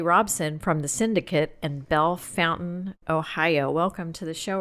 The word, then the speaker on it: Bellefontaine: And is it Bellefontaine or is it Bellefontaine? It depends on who you are. If you're from Bellefontaine, it's Bellefontaine. That's how you say it.